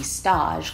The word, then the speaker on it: stage: something completely different in a time would be staged or the correct pronunciation to be Stosh cuz they're taking it from the french meaning